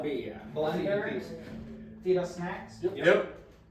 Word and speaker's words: Feedussnacks: Feedussnacks. Yep. That's literally not fetus, but fetus. Feed us. Feed us. Yeah. If you say it fast, you're saying it right.